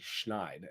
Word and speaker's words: schneid: up I was like why do we use the word snide because that means like a bad person uh and so I looked it up it's actually schneide and I was been mispronouncing it my entire life so you learn something